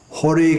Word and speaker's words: Hari: to try to imitate because this earth sound becomes all therefore the Hari Krishna mantra when son are spoken by Bengalis becomes Hori Krishna Hari Krishna Krishna Krishna